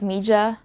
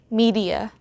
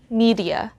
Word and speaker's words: media: me if i'm wrong do you pronounce this word as mija again mija in english we have to say media one more time media instead of producing the j sound i think the reason